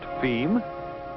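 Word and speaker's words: fim: distribution within brazil f i m pronounced theme being as you guessed it portuguese or the end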